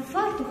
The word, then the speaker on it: фартух: Зараз ми перевіримо, як ви знаєте, українські наголоси. Правильно, фартух або фартух?